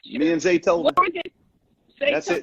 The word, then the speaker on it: Zaytoven: Me and Zaytoven. That's it, Zaytoven.